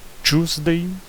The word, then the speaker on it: Tuesday: E Tuesday, a pronúncia é a mesma do to, mas é com UE. Tuesday.